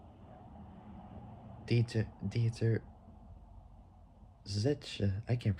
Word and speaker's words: Zetsche: Bernard, and CEO Dieter Zest Dieter Zetsche. I can't pronounce it. It's like saying the word Porsche, but taking out the letters POR and replacing it with ZET, spelled ZETSCHE, who gave their immediate approval.